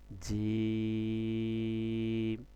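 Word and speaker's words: ج: আলিফ তিন আলিফ দূরত্ব জিম জিম জিম তো আপনাকে তিন এলিট টানতে হবে।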